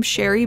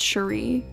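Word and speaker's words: Shari: I know a lot of people say her name Sherry, but I think it's pronounced Shuri.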